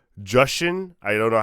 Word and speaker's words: Jushin: Jushin? I don't know how to say his. Jushin.